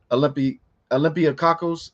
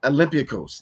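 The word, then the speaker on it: Olympiacos: Greek professional basketball club Olympiakos. Oh, Lord have mercy. I butchered that. Olympiakos. There you go.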